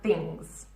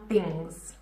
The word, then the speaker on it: things: I've exaggerated the z sound at the end because a lot of you really don't pronounce this. It is important. Again, how are things? How are things?